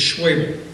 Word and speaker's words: Schwabel: interrupts me again, and he says, it's Schwabel. Schwabel. I say, okay, but it's spelled Schwabel. There's an O in there, it's spelled Schwabel. How am I supposed to remember Schwabel when it's spelled Schwabel? He says, oh, that's easy. My grandmother's name was Mabel.